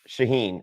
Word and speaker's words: Shauhin: How do you pronounce his name again? Shauhin. I'm hoping Shaheen's our villain.